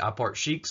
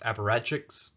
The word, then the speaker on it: apparatchiks: high places among the I park sheiks of the party or I guess the word is technically pronounced apparatchiks but who gives a